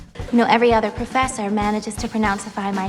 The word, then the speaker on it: Pronounceify: The letter I is the short I, or I sound, so relax your lips. I. Then the letter Y is actually 2 sounds. I, ify, or ify. Pronounceify.